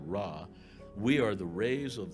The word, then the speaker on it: Ra: and we are all rays of the great raw they used to pronounce it ray but we all pronounce it raw we are the rays